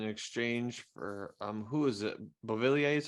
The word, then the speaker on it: Beauvillier: Beauvillier is how you say his name?